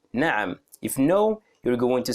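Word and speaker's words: نعم: the pronunciation is difficult nam so ah comes from the throat from here nam for example if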